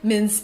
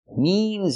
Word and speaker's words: means: mins in the end I cannot say eventually mins in the end mins in the end means in the end we have to use a long e sound like green beans eventually means in the